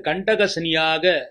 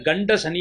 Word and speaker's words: கண்டக சனி: இந்த வருடம் உங்கள் ராசிக்கு கண்டக சனியாக சனி பகவான் உங்கள் ராசியை பார்வையிடுகிறார். நிறைய பேர் கண்ட சனி என்று தவறாக உச்சரிக்கிறார்கள். இது கண்ட சனி அல்ல, கண்டக சனி.